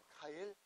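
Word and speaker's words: Keil: 좋은 사람인데요 카일이 사람 카일 독일 사람들은이 아이를 항상 아이 이렇게 발음을 해 아이 아제나 아 케일이 아니에요 카일 그다음에 이거는 란 뜻이에요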